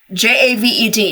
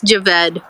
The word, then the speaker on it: Javed: okay okay it's cuz is j a v e d how do you say that that's Javed Javed and that's your family name though like